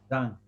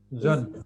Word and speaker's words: Zan: Zan. It's like the Goodbye. Z. How do you say this? Zun.